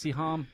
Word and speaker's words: Siham: Well, Goddess Siham, I said that right?